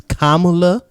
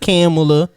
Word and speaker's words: Kamala: her name and mckinnon her name is kamala harris not camilla not kamala kamala and i was like